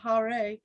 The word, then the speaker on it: Hare: hence he is called hari which in the vocative case is pronounced hare or again according to